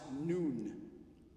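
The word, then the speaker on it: نون: is that that symbol it's the arabic symbol for the letter n and it's pronounced noon say that with me noon and the letter n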